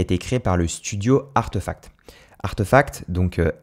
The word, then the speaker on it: RTFKT: Donc Clonix, c'est une collection de NFT qui a été créée par le studio Artefact. Artefact, donc RTFKT, mais ça se prononce Artefact, c'est un studio qui